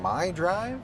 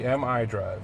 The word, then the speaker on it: MI Drive: We have, now I feel like I'm going to mispronounce this. So this is the My Drive? It's actually MI Drive.